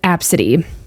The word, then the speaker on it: ABCDE: Starting off strong, we have Absidy. And the only reason I know how to pronounce that is because I've seen this one before. It's literally spelled ABCDE, but people pronounce it Absidy.